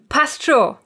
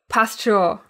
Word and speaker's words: Passt schon: Also, again, commonly pronounced while leaving out one of the letters, namely the N in the word schon. Passt schon. Passt schon.